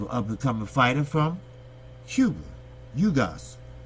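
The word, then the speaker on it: Ugás: You have an up-and-coming fighter from Cuba, Ugas. That is the correct pronunciation. A lot of people say Ugas or whatever, but it's Ugas. He's a great fighter.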